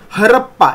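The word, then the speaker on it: Harappa: मिळालं हडप्पन हडप्पन सिव्हिलायझेशन आता इथं जो स्पेलिंग आहे हडप्पा एच ए आर ए पी पी ए असं आपण म्हणतो हडप्पा स्पेलिंग जरी असलं तरी त्याचं प्रोनाऊन्सिएशन आपल्याला हडप्पा ड ड डमरूचा ड असं करायचं आहे हडप्पन सिव्हिलायझेशन वॉज डिस्कव्हर्ड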